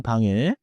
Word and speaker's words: 방: In English, in 방에 keep 방 nasal and connect into 오늘은 이 한 문장만 기억하세요. 저는 방에 있어요. 저는 방에 있어요. Smooth final, 이응, no hard G kick.